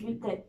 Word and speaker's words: WCKD: And then WCKD is actually pronounced as weak, right? Yes, wicked.